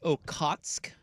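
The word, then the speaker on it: Okhotsk: is pronounced Okatsk.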